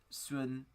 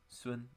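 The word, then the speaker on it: Sun: really I mean Justin swoon soon is how you say it in Chinese soon I think he's going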